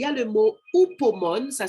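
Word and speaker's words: hupomone: Il y a le mot upomone, ça s'écrit H-U-P-O-M-O-N-E.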